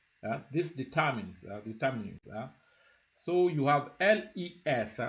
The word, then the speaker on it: les: So you have les. So les normally is pronounced le.